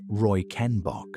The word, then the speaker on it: Reichenbach: In 1911, a German paleontologist named Ernst Stromer von Reichenbach, pronounced Roy Ken Bock, led an expedition into the Bahariya Oasis in Western Egypt.